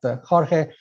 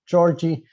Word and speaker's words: Jorge: I'm originally from Portugal, and that's why my name is pronounced George and not Jorge. If I was from Brazil, people would call me Georgie, because they like the vowels much more than we like them in Portugal.